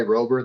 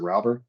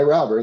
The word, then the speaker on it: Rauber: Literally, one side pronounces it one way, Rober, the other one pronounces it Rauber. I go by Rauber.